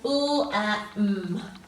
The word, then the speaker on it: lamb: You're going to leave out the silent letter when you sound it,